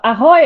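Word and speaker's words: Ahoj: to hand over to L hi everybody or aoy as we say here in Chia uh pronounced correctly uh I'm working in the same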